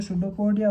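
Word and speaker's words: pseudopodia: इसके अंदर न्यूक्लियस है, आपके सुडोपिया यानी जो पी साइलेंट होता है, जो सुडोपोडिया होता है ना, उसका यूज़ करता है।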